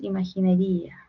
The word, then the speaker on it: imaginería: Es imaginería del poema porque esta es aguda, ¿cierto? Palabra e Pero hay un yato. Es una excepción porque acá se corta la sílaba. Es grave. Entonces, perdón, es es grave.